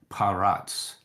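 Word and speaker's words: פרץ: can look it up I'll spell it for you pay R Sade okay so we would call it paratz it almost sounds like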